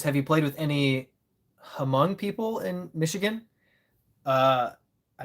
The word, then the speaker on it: Hmong: It's it's Hmong, pronounced the Hmong people.